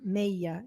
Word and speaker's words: Mella: Se escreve Mella, M-E-L-L-A, Meia, em espanhol, tá?